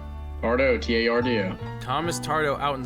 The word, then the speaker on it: Tardo: Is it pronounced Tardo? Tardo, T-A-R-D-O.